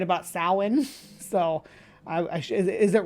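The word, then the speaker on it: Samhain: the north and that day was yeah he said Celtic uh called the day of Sam and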